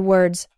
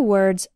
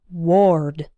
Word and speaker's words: word: an O don't say Ward or something like that if it's difficult try closing your eyes and repeating after me word rhymes with bird work rhymes with perk